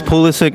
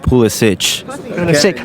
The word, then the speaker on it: Pulisic: it's paluszek not Poulos hitch so I've been saying it right I understand